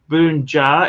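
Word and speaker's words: bokbunja: you guys seriously this this here is pronounced Boon jar is a wine from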